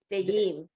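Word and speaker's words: וְעִם: You were saying it's Sadi, but it's an ayin, a silent letter. Ve'im.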